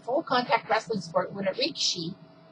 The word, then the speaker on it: rikishi: Alright, so first off, sumo is a competitive full-contact wrestling sport when a rikishi, it's spelled R-I-K-I-S-H-I, but they pronounce it rikishi, not rikishi, attempts to force another